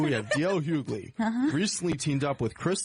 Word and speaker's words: Hughley: Number 2, if I pronounce this right. Yeah. D.L. Hughley. Hughley, yeah.